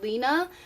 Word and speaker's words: Rina: to that name basically and rina is actually pronounced dina in japanese kind of closer to lina but i honestly think rina sounds better so i like the r more